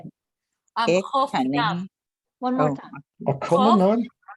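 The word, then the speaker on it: חוף ים: Chof yam.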